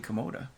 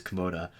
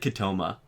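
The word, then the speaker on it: Kimota: He said Katoma. That sounds like a tumor.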